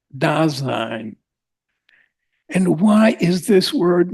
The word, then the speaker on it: Dasein: But of what are we speaking when he used this term, Dasein? Boss used to call it Dasein. Dasein. Yes, he loved that word. And he pronounced it in this way.